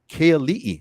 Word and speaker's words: Keali'i: It's Keali'i. Okay. Oh, there's a glottal stop. Okay, Kaili. There you go. All right, Kaili. Thank you for the glottal stop. The glottal stop makes all the difference in the word.